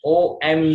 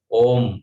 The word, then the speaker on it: ओम: ठीक, त्यामुळे ओमचा उच्चार करत असताना आता ओम मध्ये काय ओ एम नाही, इंग्लिश अल्फाबेट ओ आणि म असा उच्चार नाही करायचा. ओ आणि म, ओम असा उच्चारण नाही करायचा. अ उ आणि म, ओम, अ ओम, उचा उच्चार करताना बरेच जण ओ म्हणतात, तसं नाही.